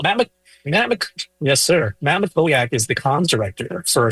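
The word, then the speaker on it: Mackowiak: Makoak, that's how you say that. Yeah, a lot of a lot of affairs lately, right? Or alleged affairs. So Matt Matt Yes, sir. Matt Makoak is the comm's director for Senator Porn's campaign.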